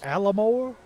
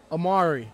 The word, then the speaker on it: Amari: Alamore? Amari. Amari. It's not spelled Amari, though. No, it's not. But on the pronunciation, it says Amari.